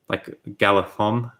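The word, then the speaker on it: Galadhon: You've probably noticed in my videos I struggle to pronounce TH, and the DH sound in Tolkien's work is like supposed to be pronounced with a TH, like Galathon.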